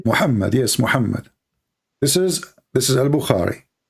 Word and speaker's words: Muhammad: Muhammad, yes, Muhammad.